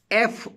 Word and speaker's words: fruit: In the word fruit, F-R-U-I-T, fruit, I is silent.